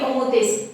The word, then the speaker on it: homothétie: Ça s'écrit homothétie, ça se lit homothétie.